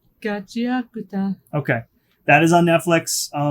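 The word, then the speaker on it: Gachiakuta: You want to pronounce that? Gachi Akuta. Gachi Akuta.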